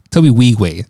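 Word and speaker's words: Tobe Nwigwe: but he's from Houston okay from Houston Toby Toby we way how you actually pronounce his name in is silent in is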